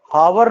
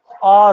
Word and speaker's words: hour: जब ऐसा लिखा जाता है ना, तो ऐसी सिचुएशन में एच साइलेंट हो जाता है। वोवेल अगर आ गया तो एच क्या हो जाता है? साइलेंट हो जाता है, और इसका प्रोनाउंसिएशन हावर नहीं, आर होता है।